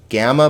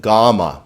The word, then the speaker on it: gamma: If you're into sci-fi, you might speak about gamma rays, but this word is not gamma, but gamma, because the alpha has an ah sound, not an a sound.